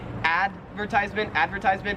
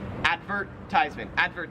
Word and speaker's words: advertisement: 31 is advertisement, and the difference is like which syllable you stress. So in American English, we would say advertisement, right. And in Australian English, you say advertisement. It's like there's more emphasis on the vert part.